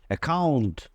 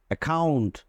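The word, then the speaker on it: account: ওকে এরপরে দেখো যদি ডাবল সি থাকে ডাবল সি দুইটা সি পাশাপাশি থাকে তার সাথে যদি কখনো এই ও ইউ যদি থাকে ডাবল সি এর পরে এই অথবা ও অথবা ইউ যদি থাকে তাহলে উচ্চারণটা হবে খেই এর মত যেমন এখানে দেখো ডাবল সি আছে এই ডাবল সি এর পরে কিন্তু ও আছে তাইলে হচ্ছে একাউন্ট একাউন্ট একাউন্ট ঠিক একই রকম ভাবে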